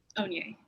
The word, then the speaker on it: Onye: Onye.